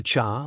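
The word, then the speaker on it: 刹: The cha, when pronounced sha, literally translates to break, like break on a car. But I am pretty sure it is meant to be pronounced cha here, which has to do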